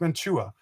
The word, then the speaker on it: Mantua: And it's pronounced Mantua, but it's not chew like a dip, a chew in your lip. It's just a very slight Mantua sound to it.